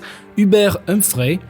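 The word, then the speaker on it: Hubert Humphrey: Attention, prononciation bien française. H Ubert Humfrey pour lequel votent les minorités.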